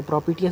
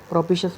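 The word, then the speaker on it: propitious: Favourable है बहुत ज़्यादा, तो प्रोपिटियस बोलेंगे। प्रोपिशियस बोलते हैं, ऐसे तो प्रोपिशियस बोलते हैं, प्रोनाउंसिएशन क्या हो जाएगा इसका, प्रोपिशियस, ठीक है।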